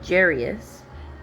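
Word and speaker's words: Jairus: the synagogue rulers named jerus came there that's how I pronounce it j r j a i r us uh seeing Jesus he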